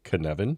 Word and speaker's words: Cynefin: Is it Cynefin? You got it. Perfect. It is Cynefin. You were very good. You can speak Welsh. Dave likes to give strange names to things. We have talked about the Cynefin framework a little bit.